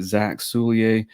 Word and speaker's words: Zack Soulliere: So this week we've got Zack Soulliere. Zach, did I pronounce that right?